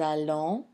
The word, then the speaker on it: allons: So as you notice, the nous allons, vous allez, double L, but it's pronounced L. It's not long E like in the case of famille and fille.